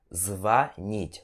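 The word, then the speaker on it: звонить: Vani E se o tensão de ar então pronunciamos vanity ok que significa ligar você telefonar para alguém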